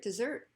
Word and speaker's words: dessert: What's your favorite dessert? And of course it's focused here because dessert is focused on the second syllable.